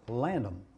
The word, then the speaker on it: Lavenham: And this area, this little village is spelled Lavenham, but pronounced Lanham, Lanham, no D.